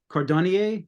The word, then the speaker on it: Cordonnier: Steve, the person you mentioned, Cordonnier, am I pronouncing that correctly?